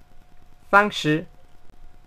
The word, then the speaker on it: FangShi: Fangxi, la manera correcta de pronunciarlo es Fangshi, Fangshi, Fangshi, Fangshi.